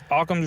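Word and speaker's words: Occam: yeah about a com's Razer how do you pronounce it aam's Razer aam's yeah aams Razer aams Razer okay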